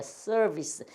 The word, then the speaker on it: 서비스: 끝에 오는 E는 소리가 안 나는 게 90%가 넘는다. 그래서 서비스예요. 서비스. 우리는 야 서비스가 좋아야지. 또 옛날 우리 어르신들은 서비스가 좋아야지 그래요. 서비스. 그래서 그게 아니고 서비스, 서비스 이렇게 되는 거예요.